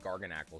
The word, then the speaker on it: Garganacl: We got the mega mwa or garganacle. Sorry. Garganacle. We did discover that. That was the proper way to say garganacle.